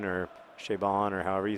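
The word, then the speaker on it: Chabon: and Clay by Michael shabin or shabon or however you say it he always says it rhymes with raidon but I don't actually find that very helpful um shabon I guess rhymes with ridon anyway um that book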